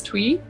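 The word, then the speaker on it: Tui: um ruby i think her last name is twee is how you say it properly she's from new zealand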